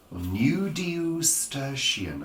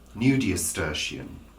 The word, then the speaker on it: nudiustertian: nudiustertian. I'll spell it for you. Nudiustertian.